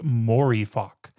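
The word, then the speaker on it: Mooreeffoc: If you reverse coffee room, it's pronounced morifock.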